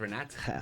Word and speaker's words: Renato: Not even Reelow, because Renato is a Brazilian. It's Oh, not really, even really? Italian. No, it's Brazilian. So it's pronounced Renat.